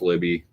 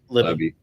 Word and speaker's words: Lebby: But I think Jeff Libby, is that how you say his name? Lebby or Libby? Jeff Libby. Lebby is doing a great job at Mississippi State.